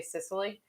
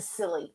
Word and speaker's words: Scilly: it's spelled s-c-i-l-o-y and I keep want to say Sicily because it looks like it should be Sicily but it's really the silly and it's pronounced like